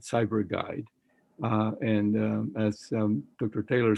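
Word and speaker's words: PsyberGuide: One of them is Cyber Guide, which is spelled P-S-Y-B-E-R Guide, Cyber Guide.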